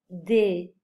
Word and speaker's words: des: On ne prononce pas le E final, le S final, on prononce des.